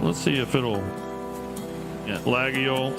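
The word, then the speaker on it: Laguiole: But these are French Lagio, I guess, is how you um pronounce it. Let's see if it'll Yeah, Lagio.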